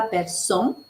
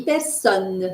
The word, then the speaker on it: personne: personne homme c'està-dire que je ne dis pas personne h je dis personne c'est un haut ouvert et il faut prononcer le N personne oui et dans